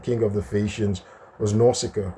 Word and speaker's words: Nausicaa: of the Phaeacians, was Nausicaa, right? Nausicaa, or pronounced Nausicaa, or Nausicaa, or Nausicaa.